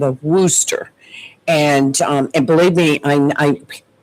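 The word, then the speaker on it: Worcester: So she said it's rooster. It's like rooster but with a w because I could never say the name right. So it's rooster. It's weird but it's spelled w o r. C e s. C e s t but it's rooster.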